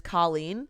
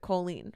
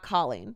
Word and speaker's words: Colleen: And I don't know why, but her name is Colleen, not Colleen. Yeah. So like coal, like you're a coal miner. Colleen.